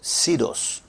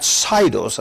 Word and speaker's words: Tesos: is this company called Tesos. That's how you say it right, not Sidos, as some people say. It's Tesos.